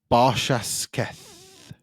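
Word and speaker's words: Barshasketh: So yeah, next on the agenda of the Riff Roundup is Barshashketh. I knew I wasn't going to be able to pronounce that.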